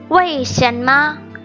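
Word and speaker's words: 为什么: say why in chinese it's way chanma way is just pronounced like y shanma means we just learned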